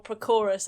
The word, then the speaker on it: Prochorus: So he was actually born Prokoros. Well, I can see why he changed it then. But yes. Prokoros. Prokoros or Prochorus, I guess. Spelled like pro-chorus. But not like Pacoras, because that would be...